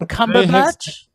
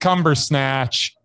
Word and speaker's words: Cumberbatch: Benedict Cumberbatch. Absolutely. He's Mondo, undoubted, mesmerizing. He's freaking awesome. Benedict Cumbersnatch is not mesmerizing.